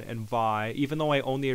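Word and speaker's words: Vay: And the Sega CD also had this other game, Vi, like it's spelled V-A-Y. I'm pretty sure that's how you pronounce it.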